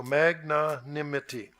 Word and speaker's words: magnanimity: but I'm going to magnanimity as ma GE and then na na and then NIM and I am and then ity so magnanimity well what is Christian magnanimity mr.